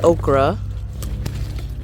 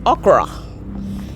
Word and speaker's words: okra: I wasn't sure when um Americans say okra but my family originally is from Nigeria we say okra so okra was ready